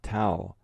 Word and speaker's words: tau: To prove the T's stand for 2T, if you read the letters that follow, the first spells T-A-W, pronounced tau, the Greek letter for T.